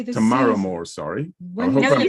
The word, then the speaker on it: Tamara Moore: When you say this, Tamara Moore, sorry.